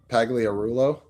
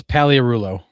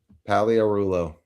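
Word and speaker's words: Pagliarulo: like, "Oh, it's Palearulo." Perulo. So, the G is silent. The G is silent. Goodness. Yep. Good. There it is. Palearulo.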